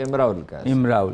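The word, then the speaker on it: امرؤ القيس: امراء القیس عرب کہتے ہیں کہ تلفظ جو ہے امراء القیس.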